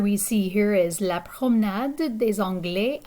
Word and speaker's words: promenade: So the picture we see here is La promenade des Anglais à Nice. Okay, in English we might see this word like promenade, and it's basically a place for walking, right? So in French it's pronounced promenade.